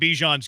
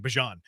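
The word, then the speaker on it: Bijan: No, I mean I just think Bejon's kind of modest and like I just said it wrong. Bjon.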